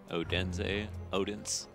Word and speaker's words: Odense: I've heard that pronounced so many different ways this season. Odense. I think it's Odense, I think is the right way to say it.